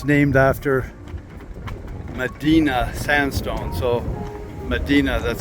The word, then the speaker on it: Medina: The locals say Medina, but it's named after Medina sandstone.